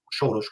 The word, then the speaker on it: Soros: Entre ellos, una teoría de conspiración, el inefable George Soros, Soros como se pronuncia en húngaro, y sacan a Yanukovych.